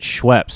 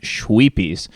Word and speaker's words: Schweppes: people's schweppes ginger ale only he doesn't pronounce it schweppes he pronounces it schweppies and he finds out